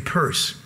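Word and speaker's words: Peirce: historian of statistics gaining purse that's a strange spelling for the name purse but it's it's what that's how he pronounced his name was the son of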